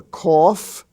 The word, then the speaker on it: cough: we find out that the F sound can also be spelled GH as in such words as rough r-o-u-g-h or cough c-o-u-g-h laugh l-a-u-g-h laughter with the GH